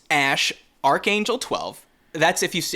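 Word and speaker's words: Æ: the letter X then the AE is pronounced Ash and then uh a12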